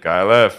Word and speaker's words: KyleEff: Just for anyone who just hasn't really realized, it's KyleEff, not F. It's like pronounced KyleEff, because that's how it sounds.